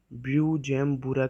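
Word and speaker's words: Bujumbura: इसे ब्यूजेम्बुरा के नाम से प्रोनाउंस किया जाता है।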